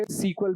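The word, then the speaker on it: SQL: जैसे माय एसक्यूएल है और पोस्ट ग्री एसक्यूएल है और इसको कई जगह सीक्वल भी बोला जाता है। तो जैसा भी आप प्रोनाउंस करना चाहें।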